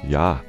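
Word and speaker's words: ja: or daughter daughter 13 hello and Icelandic is pronounced Hollow thank you is talk yes is yah no is nay goodbye is bless 14 the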